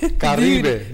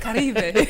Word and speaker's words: Caribe: And we have a slideshow as well to kind of talk about what Caribe has, and I'm sorry, I'm not pronouncing it with all the... Caribe, you got to roll it. Caribe.